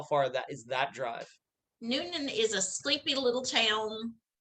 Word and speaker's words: Newnan: i'll just prompt you were they living in newnan noonan noonan georgia noonan so that's spelled uh n-e-w-n-a-n uh it is okay and